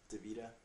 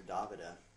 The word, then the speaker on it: Davida: But talking about Davida, everybody calls her Davida, but actually her name's pronounced Davida.